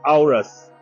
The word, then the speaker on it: Auris: Okay so have just confirmed that the pronunciation is Aus and this car is